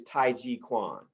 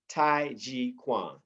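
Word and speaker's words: taijiquan: and mini gone exercises let me spell this tai chi quan t-a-i j-i-q-u-a-n tai g-quan t-a-i j-i and many key gong exercises that's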